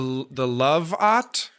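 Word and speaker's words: Lovot: Okay, so I guess it's supposed to be pronounced like robot. The Love-ot?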